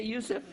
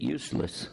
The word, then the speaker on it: Yusuf: is Yusuf my name is can you say Yusuf you got it right on the first time all these years my wife still pronounces it useless the Trinity is not mentioned in the Bible